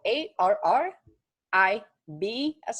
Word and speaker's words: arriba: Arriba is spelled A-R-R-I-B as in boy, A.